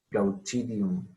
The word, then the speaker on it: Glaucidium: Glau, primera sílaba, o sea, es un diptongo, glau. Chidium, Glaucidium brasilianum.